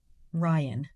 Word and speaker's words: Ryan: Ryan? No, you never. Ryan. Mm-hmm. And I says that with one syllable. Ryan.